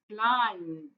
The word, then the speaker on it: climbed: So look at this verb, climbed, huh? Climbed. Okay, so is it d or t or d? Yes, well done. It is climbed.